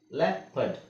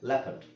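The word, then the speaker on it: leopard: EO video ಸ್ಟಿರಿಯು ಇಯ next ಇಲ್ಲಿ ಈ ಓ ಇದೆ ಅದನ್ನ ಎ ಅಂತ ಹೇಳಬೇಕು ಅಂದ್ರೆ ಓ ಸೈಲೆಂಟ್ ಆಗಿರುತ್ತೆ ಅಂತ ಅಂಕೊಳ್ಳಿ ಲ್ಯಾಪಟ್ ಲಾಪಡ್ ಜಾಪಡಿ ಜಾಪಡಿ ಈ ಎರಡು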